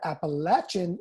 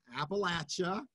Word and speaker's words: Appalachia: Pronounced Appalachia, not Appalachia, as you may have heard earlier.